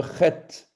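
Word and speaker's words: חית: La lettre chet, guttural, donc il faut prononcer ça de la gorge, barrière, péché.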